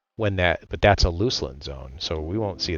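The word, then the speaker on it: Luclin: that but that's a Luceland zone so we won't see that. I know I said Luceland everybody and everyone's going to tell me it's Lucklin. I say Luceland.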